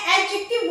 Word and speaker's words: adjective: देखिए मैं एडजेक्टिव बोल रही हूँ, डी को मैं साइलेंट कर रही हूँ, लिखा मैंने एडजेक्टिव है बट डी is silence, okay.